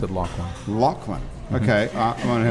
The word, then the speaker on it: Laughlin: He pronounced it Laughlin.